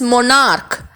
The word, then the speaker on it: monarch: monarch இல்ல, it is monarch. It has a K pronunciation in the end.